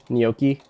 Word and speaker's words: gnocchi: Gnocchi? Okay, yeah, so not at all how we pronounce it. Not with a hard ch sound.